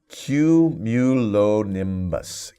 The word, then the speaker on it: cumulonimbus: this word as cumulus so we can start with the same uh way for okay but i'll slow down okay q mulo nymbus q q like q like cute oh it's very cute